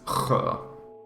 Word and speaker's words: sjö: Because for me, that's kedja, whereas like lake is sjö. You know, I do the harder sound on the SJ.